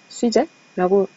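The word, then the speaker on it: sujet: 이게 주제 뭐 이런 뜻인데 수제라고 읽습니다.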